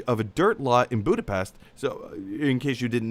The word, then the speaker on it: Budapest: a dirt lot in Budapest. So, in case you didn't know, they're filming this movie in Budapest, or Budapest, as Black Widow would remind us is the pronunciation, revealing that this would be the future home of Mockingbird Lane.